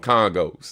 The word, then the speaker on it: conga: and how oftentimes he put congas And where I'm from in the DMV, we don't call them congas. We call them congos. That's how people here pronounce it.